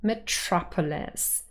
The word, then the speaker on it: metropolis: The second syllable, trop, is the one that carries primary stress, metropolis.